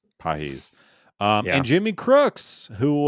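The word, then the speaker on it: Pagés: heard his name before, it is on paper in English looks like pages, but it Pedro is Pages, yeah. yeah, Pedro Pages, but it is pronounced, I believe it's Pahis. Pahis.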